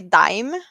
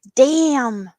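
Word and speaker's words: Daim: of the pronunciation but we would say dime in Swedish but I saw a YouTuber or someone on YouTube before testing like Swedish snacks and he's like damn it says damn I need me some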